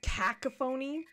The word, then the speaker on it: cacophony: Oh, it's pronounced cacophony.